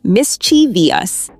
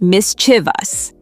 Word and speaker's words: mischievous: A lot of people add an extra syllable and say mischievous, but it's actually just mischievous. Right, only three syllables, not four.